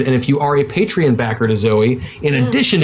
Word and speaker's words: Patreon: why I say that's why I pronounce a patreon is because it reminds me of the word patron yeah so I don't